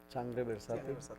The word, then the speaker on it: Sangre Versátil: locally, and correct me if I say the name wrong. It's Sangre Versatil. Sangre Versátil.